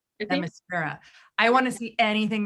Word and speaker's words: Themyscira: I don't know how to pronounce it, but what's the name of the island that Wonder Woman comes from? Themyscira. Themyscira.